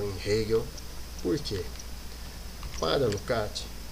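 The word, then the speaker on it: Lukács: é o georg lucat Alguns vão pronunciar Luca né outros vão a fazer uso de uma pronúncia brasileirada né que é lucx enfim eu vou tomar a liberdade de usar uma a pronúncia lucat Então veja só quem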